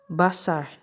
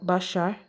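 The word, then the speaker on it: בשר: palavra aqui ó tá vendo que eles eles pronunciam ela como como bassar eles falam bassar porque eles colocam esse sinal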